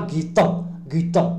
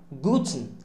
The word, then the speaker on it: Guten: On dit pas Gitten. Non. Guten. Guten.